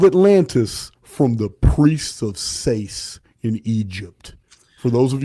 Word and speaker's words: Sais: Next thing Plato said is that Solon heard of Atlantis from the priests of Sais in Egypt. For those of you who want to spell that, it's S-A-I-S.